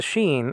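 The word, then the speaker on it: ש: okay nephesh netfish okay that's a sheen and it's an sh because of the dot over the right hand uh corner of the sheen if it wasn't like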